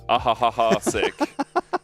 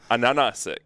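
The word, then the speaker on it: Ansurek: But the H in Cyrillic is actually an N. Okay. So for a long time we were calling ahahahasik, but it's actually ananasik.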